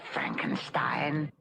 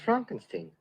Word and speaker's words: Frankenstein: Dr. Frankenstein. Frankenstein. You're putting me on. No, it's pronounced Frankenstein.